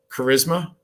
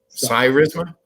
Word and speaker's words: Cyrisma: uh security so uh this company is it charisma is how it's pronounced yeah cyrisma yeah yeah cool watch tell us a little